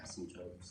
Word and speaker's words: asymptote: like the intercepts and asymptotes yep page number three remember when we say the word asymptote the p is silent all right does it